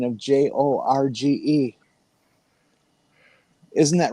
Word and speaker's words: Jorge: In in Mexico, the J is often pronounced as an H.